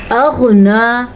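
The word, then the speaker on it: أغنى: اغنا، غین کے تلفظ کا دھیان رکھنا ہے، اور نون کھڑی زبر نا، یعنی کہ اس کو پر پڑھنا ہے.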